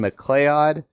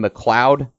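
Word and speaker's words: MacLeod: m capital L E O D I would pronounce this Kevin mlod um other people are telling me it's pronounced Kevin McLoud that's up for your own interpretation you can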